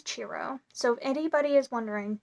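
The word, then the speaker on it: Ciro: marquetti um and I did look up how to say his name and it is chiro so if anybody is wondering how to say chiro maretti's name it's churro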